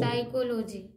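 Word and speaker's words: psychology: ओ एल ओ जी भाई जी साइको साइको साइकोलॉजी देखिए inter में आपको साइकोलॉजी स्टार्ट हो जाता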